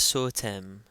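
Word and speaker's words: ⲥⲱⲧⲉⲙ: Okay, remember that the sema here is always pronounced as S. It's followed by a long O, and then tav, a, and then me. So this is sotem, sotem.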